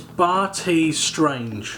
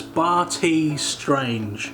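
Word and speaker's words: Bartees Strange: i'll be wrong again now the artist's name is barty strange that's barty strange b-a-r-t-e-e-s strange i don't know why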